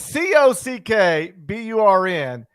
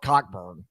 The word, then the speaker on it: Cockburn: c c c c unless it's c-o-c-k b-u-r-n then you can pronounce that however you want i give you a pass if you want to call yourself coburn instead of cockburn i totally get that